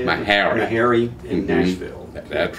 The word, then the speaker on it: Meharry: Meharry in Nashville.